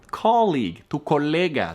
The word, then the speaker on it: colleague: Vas a ver en inglés que hay muchas palabras que tienen la U y E. Y en la mayoría no se pronuncia la U.